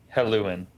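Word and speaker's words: Helluin: it was okay and then nope hello and hello in yeah it's spelled h-e-l-l-u-i-n um yeah it's told that even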